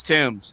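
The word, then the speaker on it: Thames: It's Tims. It's the river Tims. the the the river ts will take a long time to get repaired. I tell you that. And that won't and there won't be no new New Year's Rock and Eve on that river. The London emptied out and and and it's funny because I learned how to pronounce that name properly from playing Tomb Raider.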